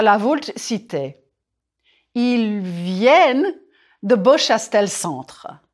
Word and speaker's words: viennent: Il vient. Singulier. It's nasal. Ils viennent. Pluriel. Here, you hear the ne.